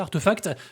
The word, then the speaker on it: RTFKT: Et ce qui par contre est moins une réussite, c'est bien sûr l'entreprise RTFKT, donc Artefact, ça se prononce comme ça, Artefact, qui a été racheté par Nike.